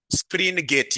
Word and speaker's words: Springate: Springgate. Yes. Not spring.